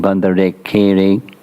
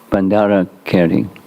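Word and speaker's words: Bhandarakeri: So this renowned sannyasi that lived in this place, the name I have difficulty pronouncing, Bandarekere, close? Oh, you're leaving out the Ra. Bandara Keri.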